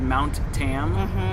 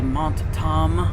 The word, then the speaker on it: Mount Tam: Like we have a cheese called Mount Tam, and somebody saw the sign one time and they go, can I try the Mont Tam? The Mont Tam. Because they just assume it's a French pronunciation.